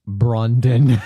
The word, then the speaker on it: Brandon: Uh Jonah Hill uncredited as Brandon pronounced Brondon.